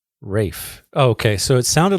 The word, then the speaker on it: Ralph: Yes, his first name is pronounced Rafe. Rafe. Oh, okay, so it sounded like you were saying Ray.